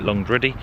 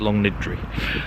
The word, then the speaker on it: Longniddry: and I have been I've been calling it long ready I apologize it's long nidri um or something similar